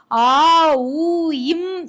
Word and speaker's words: ஓம்: இந்த ஓம் என்கின்ற பிரணவ மந்திரத்தை ஆ ஊ இம் என்றுதான் முறைப்படி உச்சரிக்கிறார்கள்.